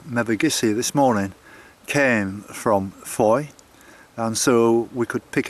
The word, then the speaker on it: Fowey: or should I say Foy it's spelled f-o-w-e-y but it's pronounced four apparently and there there's a